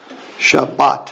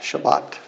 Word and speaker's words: Shabbat: to look at this you can see the two syllables so Sha but bring these two together and this one by itself Shabbat Shabbat okay absolutely yeah if you